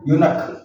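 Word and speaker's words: eunuch: और ये लिखा हुआ है यूनक, यूनक मीन्स हिंजड़ा, यूनक। तो यूनक का शब्द जो है ई जरूर है यहाँ पर, लेकिन ई साइलेंट है, यू, यूनक, यूनक लिखा हुआ है,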